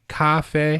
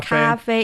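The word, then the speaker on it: 咖啡: It's the tones. It's a little higher, right? Cafe. Cafe. And it it's the same tone for the first syllable and the secondh syllable. So like that. Cafe.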